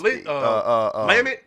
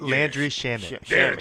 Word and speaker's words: Landry Shamet: Lamit? How do you say it? Landry Shamet. Thank you.